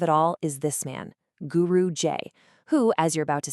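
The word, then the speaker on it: Guru J'AI: We're going to break down the world of a character named Guru Ji. Now, that's J AI, but it's pronounced Guru J.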